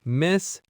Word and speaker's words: mischievous: The correct pronunciation is mischievous. Key number two, all the stress is on that first syllable, miss.